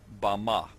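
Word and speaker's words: בָּמָה: in the Strong's Hebrew Dictionary, and it is pronounced Bama.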